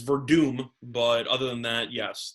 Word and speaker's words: Werdum: There's a W in there, and you pronounce it as if it's a V. That's not really your fault. You try. All right, that's all that fair enough. Verdum is the prohibitive favorite